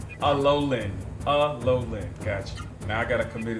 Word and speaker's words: Alolan: Can I definitely be like Alaonian? So it's Alolan. You should have a fucking Pokemon pronunciation. Alolan.